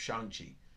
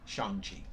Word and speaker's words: Shang-Chi: Fu, first appearance of Shang-Chi. I said it wrong the first time, Shang-Chi.